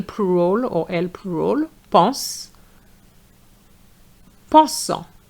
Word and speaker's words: pensant: Pensant. The ANT is en. Pense, pensant. So I'm going to repeat. Euro, heureux. Jeune, jaune. On fait, en fait. Pense, pensant.